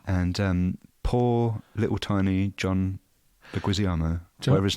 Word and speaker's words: Leguizamo: Yeah, and poor little tiny John Leguizamo, whatever his name is. What's his name? Say his name. Leguizamo. I like the way I John say Leguizamo.